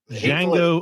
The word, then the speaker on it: Django: With Django Unchained. The D is silent.